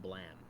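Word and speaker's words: Blame!: I bought of I bought the first uh mega volume of Blam. Have you heard of that? I think so. It's like it's pronounced blam.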